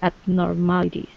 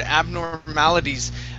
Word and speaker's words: abnormalities: Nice job with the word abnormalities. The one thing we could do on that is switch the T at the end to D sound. Okay. Yep. Abnormalities. Abnormalities. Just like that.